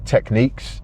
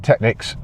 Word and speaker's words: Technics: 1200s the 1210 Etc it's actually pronounced techniques that's the official pronunciation of that word but I'm British we've always just said technices you know I've grown